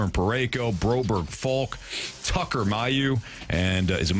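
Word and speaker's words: Mailloux: Your defensive pairings, Fowler and Parayko, Broberg, Falk, Tucker, Mayu, and is it Mayu or Mayu?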